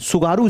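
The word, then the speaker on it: Tsugaru: Is again a वेरीेंट सुगारू state सुगारू। दोस्तों यहां पर आपको ये सुगारू स्टेट दिखाई दे रही है। स्पेलिंग एस से स्पेलिंग इसकी टी से शुरू होती है। टी यहां पर साइलेंट है।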